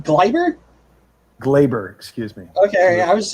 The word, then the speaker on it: Gleyber: Gleyber, excuse me.